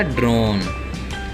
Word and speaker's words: drone: तो D से क्या बना, डे, R से क्या बना, रे, O से बना ओ, N से बना ने, और बाद में E है तो E की स्पेलिंग नहीं, मतलब पढ़ेंगे नहीं, लिख लेंगे। तो क्या बन गया, ड्रोन।